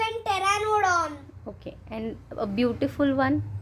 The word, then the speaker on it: Pteranodon: P silent. P is silent. Pterodactyl and Pteranodon.